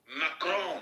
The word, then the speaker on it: Macron: Macron, that's how you pronounce it, not Stop playing with this gay shit, please.